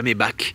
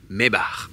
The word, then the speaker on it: Maybach: badge mes bar alors si vous savez pas comment ça se prononce c'est pas mes bâes c'est pas mes bac c'est mes bares je vais vous ouvrir